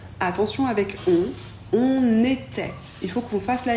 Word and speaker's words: étaient: I se prononce et e nt ne se prononce jamais ils étai elles étai